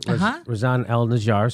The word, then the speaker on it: Razan El Najjar: Razan El Najjar.